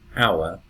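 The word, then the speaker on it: hour: And here we can see the H, but we don't pronounce it. Our, honest.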